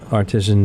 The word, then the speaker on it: artisan: He has artisan breads. Artisan. How do you pronounce it? Artisan breads. And artesian is a well. That's artesian well.